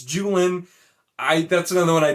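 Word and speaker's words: Juilin: sandar julian you know j-u-i-l-i-n is apparently pronounced jewellen jew illin no it's not it's just it isn't okay it's not it's not pronounced jewellen it's julian i that's another one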